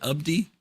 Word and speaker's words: Abdi: Notice I said Abdi. I said I was making a mental note. No more Abdi, and did I say it right? Abdi? You said it right.